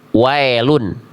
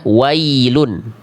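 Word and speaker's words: وَيْلٌ: Seringki dibaca dengan vokal e. Miring vokalnya yang harusnya i miring ke e. Contoh ya di sini jangan sampai dibaca wailun tapi cukup kita ba tapi kita baca wailun. Ini seringkiali terjadi ketika kita baca alam taro kaifa fa banyak yang begitu. Jangan jadi e bunyi vokalnya. Bunyi vokalnya i.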